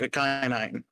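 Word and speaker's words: Ikhine: Yeah, we signed wide receiver Nick Westbrook at Kenai. That's how you pronounce his name.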